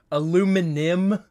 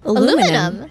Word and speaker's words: aluminium: It's just like, it can be pronounced either way, but I don't care what anyone says, it's aluminum.